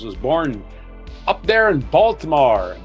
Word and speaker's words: Baltimore: The most decorated Olympic athlete with 28 medals was born up there in Baltimore. Baltimore as they call it up there in Baltimore, Maryland. They don't pronounce the T.